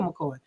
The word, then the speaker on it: McKoy: It's like, yeah, my name is spelled McKoy, not McCoy. So I'm the real McCoy.